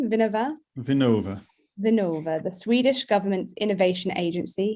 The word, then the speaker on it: Vinnova: Am I pronouncing that correctly? Vinnova? Vinnova, the Swedish government's innovation agency.